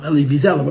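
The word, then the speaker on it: Elie Wiesel: listen to him talk Ellie viel Ellie viel you pronounce his name it's clear he says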